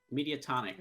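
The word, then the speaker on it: Mediatonic: how do i pronounce their name i always pronounce it wrong media tonic media tonic okay there you go uh so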